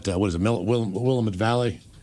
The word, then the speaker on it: Willamette: Yeah, Willamette. Rhymes with dammit. Right, Willamette.